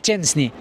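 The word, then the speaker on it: Szczęsny: boek chenny no es chesny es chenny así es la pronunciación en polaco Espero que esté bien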